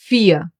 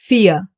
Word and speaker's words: vier: Vier. You don't hear the R. Listen again. Vier.